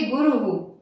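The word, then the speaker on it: गुरुः: यहाँ पर गुरु शब्द में जो रू है वो छोटा है, ठीक है, और विसर्ग लगा है तो इसको बोलेंगे गुरु।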